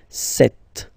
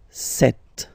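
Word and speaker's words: sept: Then here, remember, P is not pronounced, okay? It doesn't exist, so you get this set sound, set, set.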